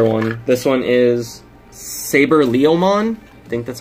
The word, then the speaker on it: Leomon: Yeah, I thought so too, but then there's an O in there. So it's like Leomon. Leomon. That's how you say it.